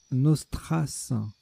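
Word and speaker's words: nostras: un gaz de combat nostrace prononcez bien le S pour sa rime avec Trace vu la leçon de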